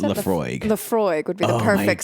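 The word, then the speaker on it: Laphroaig: How do you pronounce it? Lafroig.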